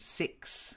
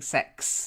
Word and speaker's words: six: sure you get that e sound six otherwise you're saying sex and people will go what okay so six